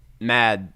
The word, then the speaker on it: Mads: uh the main character mad i think he's the is it mads or matt i think it's pronounced just mad that's silent but he's not he